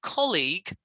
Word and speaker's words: colleague: this year colleague which syllable stress first or second fast yes so make sure when you say it colleague not colleague colleague that's right the second syllable should be really short so it's colleague yeah okay 13.